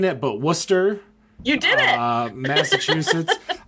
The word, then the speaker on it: Worcester: I'm probably gonna butcher uh saying it but Worcester you did it uh Massachusetts yeah I I'll